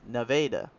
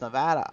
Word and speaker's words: Nevada: I say this but we got a place called Nevada uh spelled it's spelled like Nevada this the state but the way we say it is Nevada I don't know why we say Nevada Iowa's Nevada it when everyone else says Nevada Iowa but when we